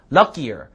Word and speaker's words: luckier: Luckier. Luckier. lucky가 아니라요. 끼예요. 끼. 쌍기역 발음. 끼.